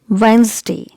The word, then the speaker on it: Wednesday: which is mispronounced often so it's wednesday letter is silent here so it's wednesday